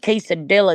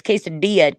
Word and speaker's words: quesadilla: like if you see like quesadilla, it's not quesadilla, it's quesadilla. Two Y's make two L's make a Y noise.